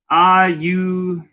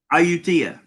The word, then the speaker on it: Ayutthaya: Ross says it's pronounced Ayutthaya. Ayutthaya.